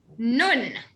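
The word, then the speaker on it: נון: Nun. N, as in now.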